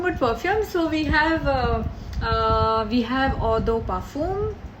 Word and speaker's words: Eau de Parfum: So talking about perfumes, so we have Eau de Parfum, how you pronounce it in French.